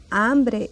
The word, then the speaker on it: hambre: Uganda see silent you don't pronounce it so it's like it's not there they need ambrie and